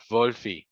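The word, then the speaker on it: Wölfli: Wolfi, porque la W es como una V.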